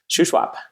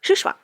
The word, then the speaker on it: Shuswap: Shuswap. Shuswap.